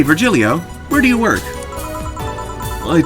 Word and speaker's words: Virgilio: You look winded, Virgilio. It's pronounced Virgilio. Virgilio. No, I'm pretty sure it's Virgilio.